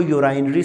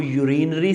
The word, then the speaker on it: urinary: आप इसको यूराइनरी system भी बोल सकते हैं, आप इसको यूरिनरी सिस्टम भी बोल सकते हैं, जो आपको बेटर लगे आप वही प्रोनाउंस जो है वो इसकी कर सकते हैं।